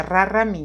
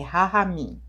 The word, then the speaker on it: Rahamim: Como eu puxo muito R, então eu já falaria Raramim, mas não é, é Rahamim, né?